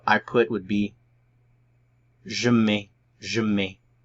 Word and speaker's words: mets: So I put would be je mets, je mets.